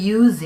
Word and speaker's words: use: We use it every day. We use it. use와 it 한 말이 붙어서 use it 하고 발음이 되겠죠. 이때 use도 use, s 발음과 use, z의 발음으로 구별이 되어서 쓰입니다.